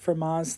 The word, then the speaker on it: Fermat's: The T is silent, Fermat's theorem.